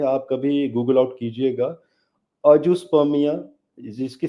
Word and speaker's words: azoospermia: और जी हाँ, जैसे आपको मालूम होगा अजुस्पर्मिया, अजुस्पर्मिया समझते होंगे आप गायत्री?